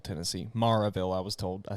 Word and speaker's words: Maryville: So after the show, it was in a cool little venue in Maryville, Tennessee. Maryville, I was told.